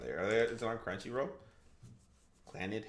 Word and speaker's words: Clannad: Clannad? How do you say it? Clannad? Clannad.